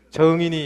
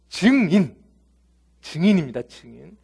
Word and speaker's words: 증인: 예, 아마 경상도 분들은 발음이 좀 안 될 거예요. 정인이 이렇게 될 것 같은데, 증인입니다.